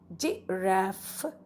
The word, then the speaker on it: giraffe: and read G RAF G RAF remember it has a double F and silent e at the back so he does not make the sound here G RAF ok surprised now we